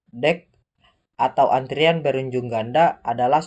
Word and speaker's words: deque: Antrian pertama itu antrian berujung ganda, deque atau diucapkan dec, atau antrian berujung ganda adalah struktur data yang mirip antrian yang mendukung penyisipan dan penghapusan di bagian depan dan belakang antrian.